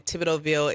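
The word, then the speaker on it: Thibodeauxville: Well, the first thing you can do is search at if you go to Google, you just do the ad sign Tibidovville. It's spelled T H I B O D E A U X V I L L E.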